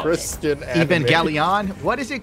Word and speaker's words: Evangelion: Evangelion, the problem is, if you don't look into